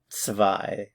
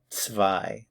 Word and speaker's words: zwei: Zwei. The Z here is like a TS in English. The W is like a V. Zwei.